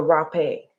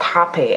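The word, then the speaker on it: rapé: Then I went through the rape, or I think it's pronounced hape actually, but spelled like rape.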